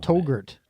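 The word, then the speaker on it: Touggourt: called the I don't togurt togurt togurt like yogurt yeah it's in Algeria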